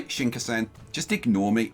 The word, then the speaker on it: Shinkansen: around a little bit because I want the Shinkansen is going straight into the station but we've